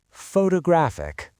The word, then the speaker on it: photographic: Photographic. The stress moved again. Now it is on the third syllable. Photographic. The a in graph is now the peak.